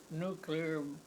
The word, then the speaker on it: nuclear: But it's got to eventually be a world market, but we have to do it without nuclear bombs and, by the way, that's pronounced nuclear, not, Not nuclear.